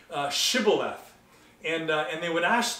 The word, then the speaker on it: Shibboleth: they can only say Sybil death think about that for a minute right they you know the gileadites could say Shibboleth but the Ephraimites can only say Sybil and write the word Shibboleth